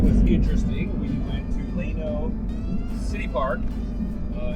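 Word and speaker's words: Llano: Good morning, Leno, Texas. I think that's how you say it. It's L L A N O, but uh this is the little community park.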